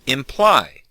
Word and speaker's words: imply: And as you can hear, the stress is on the second syllable. Imply. Sometimes students put the stress on the first syllable and say imply, which sounds strange.